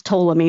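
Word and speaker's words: Ptolemy: last of the toies well first of all you came even pronounce toam me it starts with the letter P so you know it's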